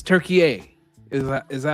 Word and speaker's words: Türkiye: Like how people pronounce Turkey as Turkey. Right? It's Türkiye.